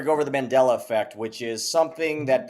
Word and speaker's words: Mandela: one of the effects you say his name wrong Mandela what did I say I got you you you were speaking fast you said manella you said manella t I'm mumbling Mandela effect um or or